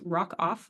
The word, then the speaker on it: Rockoff: my firm's website uh my last name is spelled exactly how it sounds Rock off r o c k f so if you do